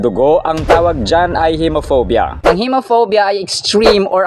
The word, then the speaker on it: hemophobia: And by the way, ang pronunciation nito sa first syllable ay long e vowel sound. He hemophobia, hemoglobin. Hindi siya he kundi he. Ngunit may isang dugo na hindi dapat natin kinatatakutan.